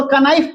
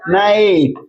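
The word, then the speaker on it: knife: ई यही ना लिखते हैं तो आप इसको कनाइफ पढ़िएगा नहीं क्या पढ़ेंगे नाइफ के एन ओ डबल नो है ना तो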